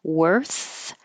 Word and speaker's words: worth: r in the middle worth has the same r in the middle but a th at the end so your tongue has to do a lot of movement forget about how it's spelled it looks like o r but it sounds like e r so you're just making the sound of the r wor and then go forward for the S wor wor forward for